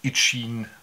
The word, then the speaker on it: Eachine: Das ist jetzt das Ende von Teil 1 von dem kleinen Ichin heißt das, spricht sich das wohl aus, H8S.